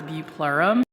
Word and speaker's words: bupleurum: Every time I see this stuff, the way that it's spelled, it makes me think of bubblegum, but it's bupleurum.